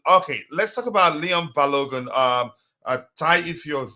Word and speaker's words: Balogun: Hubbards um Lauren um bologna or whatever his name is pronounced as balogun I yeah I I'm